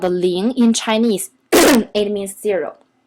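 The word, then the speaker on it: 零: the pen of it is Ling so it pronounced as Ling look at here Ling it has two versions one is this kind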